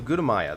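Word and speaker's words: Gutamaya: so Gudamaya, that's how you say it.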